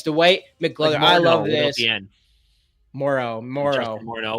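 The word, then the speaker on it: Moreau: Moro without the N.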